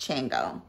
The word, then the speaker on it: Shango: It's spelled Shango, but it's pronounced Chango.